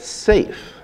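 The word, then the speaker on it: Seif: And Douglas has created Project Safe, spelled like Leif but with an S, as a pun on safety.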